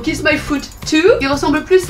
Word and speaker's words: Kis-My-Ft2: et leur nom donc qui normalement se prononcer kiss my food at the kiss my food tout il ressemble plus à